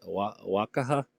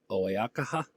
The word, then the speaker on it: Oaxaca: I don't know how to say that, Oaxaca state government and the municipality of Reyes Etla teamed up to organize the record attempt.